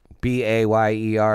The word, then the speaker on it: Bayer: and for a while, Bayer, B-A-Y-E-R it's would pronounced be Bayer.